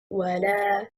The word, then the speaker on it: ولا: The word وَلَا النَّصَارَى, وَلَا is two words, a conjunctive waw plus a negative lam. The correct stress is on harakatil lam.